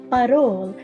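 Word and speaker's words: parol: it's battle f-a-r-o-l whereas in the philippines is barol p-a-r-o-l and that's fascinating so we have farol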